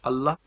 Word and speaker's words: Allah: up our Muslims believe in their God called ala alia am i pronouncing that right it's actually pronounced Allah oh my goodness I am so sorry I